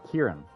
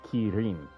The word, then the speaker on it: Kirin: you were sit like in the case of Kieran it's in Japanese it's Kirin okay um that that's